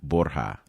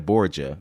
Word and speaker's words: Borja: Welcome to Open Door, Miss Carolina Borja. Did I say it right? Yes, thank you. Yes. Okay, because I could have anglicized it and said Carolina Borgia, but I don't think you would have appreciated that.